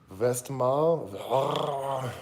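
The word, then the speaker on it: Westmalle: won't know if I've had this or not vest mouth ah that's how you pronounce it Trappist ale so this is a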